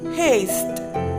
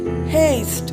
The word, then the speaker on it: hest: In Danish, horse is hest. Hest. We can pronounce horse as haste in Danish.